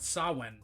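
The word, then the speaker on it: Samhain: agham uh in the same way that it's pronounced saan not Sam ha uh the the ale has slayed us yeah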